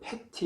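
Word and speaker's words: פֶּתִי: 우둔한 자라는 히브리 말은 패티 이렇게 아주 간단하게 발음을 합니다.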